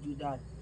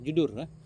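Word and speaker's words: جُدُر: judar judar jamak Awil judar atau dinding bukan Jidar judur bukan judar judur jidarun jidarani judurunulun kan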